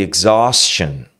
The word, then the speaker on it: exhaustion: Você não fala exhaustion. Exhaustion, não. Exhaustion. Tem um pouco de ar que sai aqui para fora.